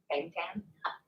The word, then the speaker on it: Bangtan: Bangtan.